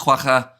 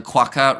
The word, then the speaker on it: Kwagga: Respectfully pronounced Kwagga, not Kwagwa. The Q as a K. The Hanks give gas. So Kwagga rather than Gagwa.